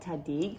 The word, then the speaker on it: tahdig: a crispy brown bottom called tadiq which is how you pronounce it in farsi um it gets crispy